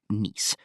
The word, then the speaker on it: Nice: This is supported by the Nice model, pronounced "niece", a theory of solar system evolution.